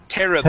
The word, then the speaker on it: terrible: terrible one more time so instead of terrible Terry we want to say ter ter terrible ter terrible there you